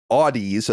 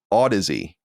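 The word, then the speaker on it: Audeze: Audis a-u-d-e-z-e is pronounced Odyssey like the word Odyssey with a weird spelling I would just like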